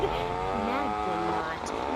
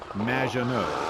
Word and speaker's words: Maginot: Naginot. Welcome to the show. Thanks, Amy. However, you have mispronounced my name. It's Madge, which rhymes with badge, as in duh, and no as in more than you. Maginot.